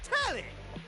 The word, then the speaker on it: Telly: The name's Telly. Rhymes with Nelly, like...